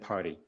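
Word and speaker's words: Pardy: commission and our next witness is Chief superintendent party Junior Council for the commission and we have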